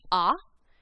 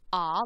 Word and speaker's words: a: name in spanish is ah and the letter a is pronounced ah like in father and the a in